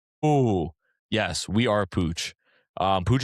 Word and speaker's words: Pucc: Pooch is spelled Pucc for those that don't know.